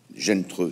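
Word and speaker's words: Zheng He: Zhen Treu, c'est ça. C'est la prononciation. Qui se lit Zhen E, c'est pour ça que je n'arrivais pas à le prononcer.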